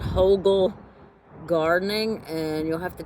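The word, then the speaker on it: Hügel: um gardening technique called Hogal Gardening. And you'll have to check it out. It's um H U G E L gardening. It's pronounced with an O ho ge l.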